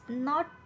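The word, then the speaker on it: know: एन ओ डब्ल्यू नो नो मध्ये सुद्धा के चा उच्चार होत नाही नी नी मध्ये सुद्धा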